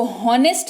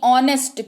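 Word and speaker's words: honest: नहीं पता थी कि एच ओ एन टेस्टी को होनेस्ट नहीं ऑनेस्ट क्यों पड़ते हैं तो आपको आज यह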